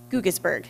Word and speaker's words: Guggisberg: So Guggisberg, is that how you pronounce it? Correct, yes.